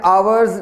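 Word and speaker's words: hours: आवर्स delay में हम एच को साइलेंट रख रहे हैं और ओ को प्रोनाउंस कर रहे हैं, आवर्स delay, N आवर्स delay, ना के हावर्स डिले। एच प्रोनाउंस नहीं किया जा रहा बल्कि साइलेंट है।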